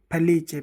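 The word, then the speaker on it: felice: पढ़ेंगे ई का उच्चारण ई का उच्चारण जो है वो अ की तरह होता है जैसे एफ ए एल ई ची ए फैलीचे फैलीचे यानी खुश खुश को क्या कहते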